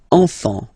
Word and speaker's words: enfant: Don't pronounce the T, you don't pronounce the S. Enfant, okay?